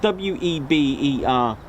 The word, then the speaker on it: Weber: It's spelled W-E-B-E-R, but pronounced Weber.